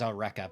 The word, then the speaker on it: Eureka: Spelled Eureka, but they pronounce it as Eureka because it's a character's name.